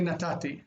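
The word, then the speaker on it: נתתי: but you're supposed to say natati. Natati is the biblical form and the modern form, and some people just don't say it right.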